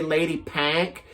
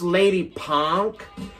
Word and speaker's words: Lady Pank: lady it says lady it looked like it would say lady pank it's pronounced lady punk um and this is